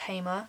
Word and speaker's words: HEMA: with hammer or hammer I always call it hammer but I think it's pronounced Hamer vo there's a shop in